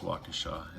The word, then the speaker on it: Waukesha: So it wasn't Milwaukee, it was Waukesha.